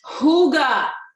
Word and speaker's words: hygge: about that in the next few weeks okay hygge okay somebody gave me the connect oh it was swami gave me the correct pronunciation for hugo last week i'm really excited